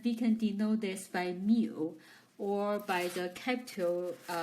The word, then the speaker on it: mu: the probabilities and we can denote this by mu or by the capital e a parenthesis expresses so here for this uh greek letter the the name of this one is pronouncing as mu okay so this is what's the meaning for